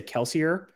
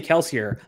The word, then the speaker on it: Kelsier: and he's like, well, I say Kelsier, but actually in the book it's Kelsier. And everyone was like, but you're the author and you say Kelsier. And he's like, yeah, I'm the author who pronounces it wrong.